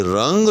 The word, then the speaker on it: رنگ: وہ سہ حرفی ہوگا۔ اسی طرح سے یاد رکھیے گا کہ رنگ جو ہے، یاد رکھیے گا کہ یہ بھی سہ حرفی ہوگا، جی ہاں، اور بروزن فا ہوگا۔ لہذا اگر آپ کہیں